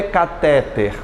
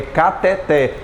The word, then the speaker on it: cateter: essa palavra né cateter pessoal da medicina utiliza cateter não é cateter é o que gente cateté de novo cateter e agora vai à mão cateté a mais forte é o que o técnico vítor